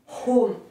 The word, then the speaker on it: home: C'est aussi en anglais, en allemand, prononcer les H. Parce qu'on ne le prononce pas en français, mais c'est home, Home.